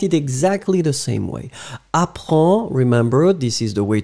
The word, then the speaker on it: apprends: Apprends, remember, this is the way to write it properly. In the end, it's D-S. So it should be there.